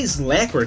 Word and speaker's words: Slackware: A pronúncia é Slackware, caramba. Tipo, não inventa a pronúncia.